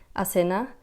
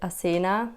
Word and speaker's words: Asena: turkish as well so the way you would pronounce my name in turkish is asina but i grew up